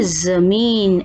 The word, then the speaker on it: ज़मीन: जमीन, अब ये जमीन नहीं है, जमीन। और ज और ज का अंतर बहुत बार कर चुके हैं।